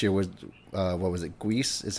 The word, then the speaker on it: Guice: Guice is how you say his last name? I have no fucking clue. Geis?